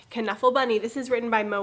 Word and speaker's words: Knuffle Bunny: started the first book is kanuffal bunny which it actually is pronounced caneful bunny this is written by